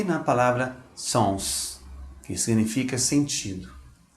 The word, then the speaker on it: sens: E na palavra sens, que significa sentido.